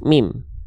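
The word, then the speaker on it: ميم: Jadi jangan sampai di antara teman-teman ada yang bilang bahwasannya ini adalah huruf ma. Karena tidak ada huruf hijaiyah yang nama aslinya adalah huruf ma. Ini namanya adalah huruf mim.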